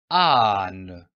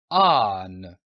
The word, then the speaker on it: âne: Âne. Remarquez l'accent sur le A. C'est un accent circonflexe. Ici, vous devez prolonger un peu le son du A. Âne.